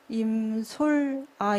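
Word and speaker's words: 임솔아: 드림 이름이 잖아요 4 제 이름이 한국말로 발음하기가 그렇게 쉽지는 않아요 예솔 아 하거든요 서라 어렸을 때부터 임솔 아 입니다 라고 말했었는데 저는 크게 오히려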